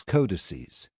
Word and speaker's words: codices: It is pronounced codex, and its plural is codices.